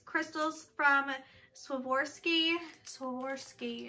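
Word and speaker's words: Swarovski: from swim or ski swim or ski is how you pronounce that whatever I see one crystal in here that's it you get one it svorski crystal what a sham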